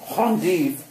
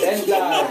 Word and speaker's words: endive: But endive, it's endive, dude. Endive. Endive. I don't know about that word. I think I've heard it pronounced on endive.